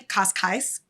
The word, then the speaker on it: Cascais: And then when we went to Cascais, I just pronounce that totally differently. Cascais.